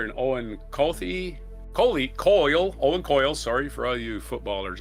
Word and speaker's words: Owen Coyle: as former Celtic midfielder Ddier Agathi was cast as the Rangers player and Owen Kofi Kohley Coyle Owen Coyle sorry for all you footballers out there for mispronouncing your players names who played for several